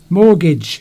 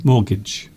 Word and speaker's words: mortgage: Mortgage, we've said it. There we go. Mortgage. So the T is silent.